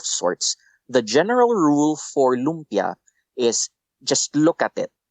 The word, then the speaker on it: lumpia: those are um is do I have the pronunciation of this right uh loia loompia is that right yeah yeah tell yes correct